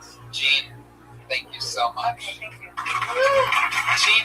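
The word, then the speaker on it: Jeane: It's spelled like Gianne. J E A N E L. Whitney, all one word. Jean with a silent N and E after.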